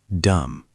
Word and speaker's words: dumb: Dumb, pronounced dumb, silent B.